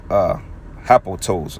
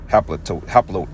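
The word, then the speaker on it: ἁπλότης: So word simplicity goes into the Greek word, which goes into hapotos. Matter of fact, I'm gonna let him pronounce it. Haplotes.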